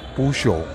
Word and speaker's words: Peugeot: Apakah pengucapannya Pe-cho, Pe-ot, atau Push? Puso, Puso, Puso.